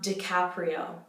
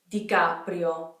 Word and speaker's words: DiCaprio: notice it so Leonardo and then his last thing is not DiCaprio DiCaprio do you hear how much air is coming on that scene DiCaprio DiCaprio dica video dica video there's not as much air coming out the type I D copper do y'all you don't necessarily